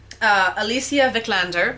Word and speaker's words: Alicia Vikander: Alicia Vikander, I finally figured out how to say her name, for The Danish Girl, and Kate Winslet for Steve Jobs.